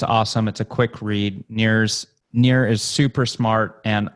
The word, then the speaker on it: Nir: could go to sure it's near and far calm near spell like my first name and I are or